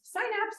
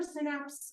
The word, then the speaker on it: synapse: Neurons at junctions, and it can be pronounced synapse or synapse. I'm married to a Brit, and he's always like synapse. And so anyway, either one.